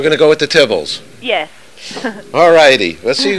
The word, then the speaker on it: Tibbles: Actually, it is Tibbles, but that's okay.